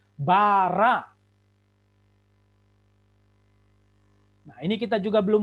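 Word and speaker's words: בָּרָא: Bet, games, res, games, alef. Ini aksen, tanda baca, bukan vokal atau bukan konsonan. Maka bacanya bara.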